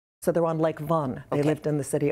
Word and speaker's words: Van: we would pronounce that van would say oh that was van armelia sure well it's more like the number one with the v in front of it so they're on lake von they lived in the